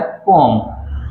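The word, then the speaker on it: poem: इसको वैसा पोम भी पढ़ते हैं सही मायनों में, इसको जो ठीक प्रोनाउंसिएशन है वो है पोम। क्या है, पोम।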